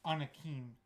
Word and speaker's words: Anakim: You mispronounced it. Anakim.